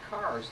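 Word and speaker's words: Kerr: How many of you have ever noticed the marker that says Robert Carr, spelled K-E-R-R? Good for you. You know the Scottish pronunciation is Carr.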